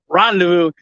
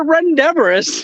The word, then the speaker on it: rendezvous: say no to renderers Rendezvous I pronounce a red endeavors and I did that